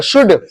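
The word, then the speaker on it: should: इसको कुल्ड नहीं पढ़ेंगे, कुड, मैंने क्या बोला, एल को भूल जाओ, कुड, इसको एल को भूल जाओ, शुड, शुड, एसएच है ना, एसएच भी है, शुड,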